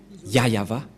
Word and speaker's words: Yahvah: ne voit rien et donc c'est bien la prononciation de son nom yayava voilà le ya et voilà la suite après